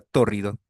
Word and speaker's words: tórrido: Una fácil torrido T de tasa o do R y D de dado o con tilde sobre la primera sílaba Tórrido.